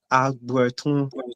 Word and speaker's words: Agbutun: My name is Agbutun, originally pronounced Agbertun, Agbertun, Mhm.